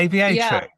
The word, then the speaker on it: Aviatrix: So the debut single that came out, tell us about that particular track, Aviatrix. Am I pronouncing that right? Yeah, Aviatrix.